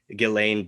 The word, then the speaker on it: Ghislaine: Some people say Ghislaine, some people say Ghislaine. Anyway, Ghislaine Maxwell. I think it's Ghislaine, like Elaine, but yeah, so she